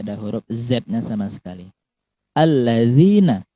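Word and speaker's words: الذين: Alladzina, bukan allazina, ya.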